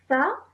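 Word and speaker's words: ث: The next letter is tha and it has a fatha. So tha. Ta. Tha. Ta. Okay. Now this letter you pronounce with your tongue touching your top teeth.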